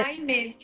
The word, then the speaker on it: Almée: Então, é Aimé.